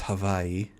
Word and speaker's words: Hawaii: I think Hawaii is the most, if you want to know the actual pronunciation, it's Hawaii.